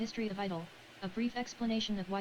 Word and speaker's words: I-DLE: they're on the cube the group name is simply pronounced as idol but the girls sometimes